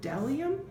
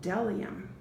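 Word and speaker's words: bdellium: See, here's the word delium, and it actually starts with a B, but the first letter you pronounce is the D in delium.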